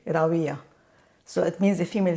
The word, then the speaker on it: Rawia: Oh, they say they think it's a V, but it's not a it's not a it's more like the English pronunciation of the W.